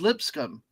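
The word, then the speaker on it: Lipscomb: not making it up it really is pronounced lip scum oh that's so unfortunate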